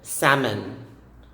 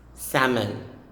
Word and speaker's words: salmon: letters starting off with salmon salmon silent letter l it's of course a